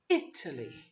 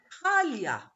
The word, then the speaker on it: Italy: because of the word stress is italy italy because in turkish it's italia so what happens is we say itali that's completely wrong it would have to be easily the first syllable would be stress the same goes pan